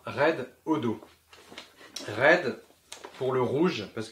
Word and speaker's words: Redodo: Red pour rouge, hein, ça se voit. Odo pour odomètre. Pourquoi? Je ne sais pas. En tout cas, ça se prononce comme ça, Red Odo.